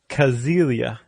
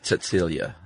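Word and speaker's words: Cäzilia: The wife's name was Kazelia. Sigelia. Frank. No, if I'm not mistaken, if you begin a word with C in German, it's pronounced like a TS.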